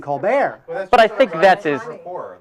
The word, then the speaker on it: Colbert: how about Steven Colbert who changed the pronunciation of his name to stepen colar but I think that's